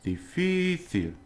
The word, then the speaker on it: difícil: It's difícil, difícil, because if it ends in L, it should be on the last syllable.